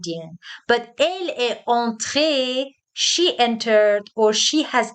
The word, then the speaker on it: entrée: We add an e, the spelling changes, but the pronunciation stays the same.